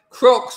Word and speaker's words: Crocs: Crocs rhymes with flocks, as in flock of seagulls, haircut in the 80s, of which your shoes are the 2020s version of.